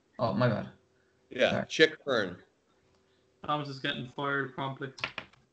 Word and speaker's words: Chick Hearn: Chick, like a chicken. Oh, my bad. Yeah, sorry. Chick Hearn.